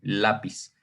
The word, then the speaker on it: lápiz: Contamos. Aquí hay una sílaba y acá hay otra sílaba. Esta es la última y esta es la penúltima. Entonces, por eso es que digo que se van a acentuar o van a tener acento ortográfico en aquellas palabras, o más bien en donde se encuentre la fuerza en la penúltima sílaba.